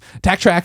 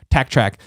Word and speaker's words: Taktrack: Tack Track is spelled TAKTRACK. So just TAK is the weird part about that. Tack Track.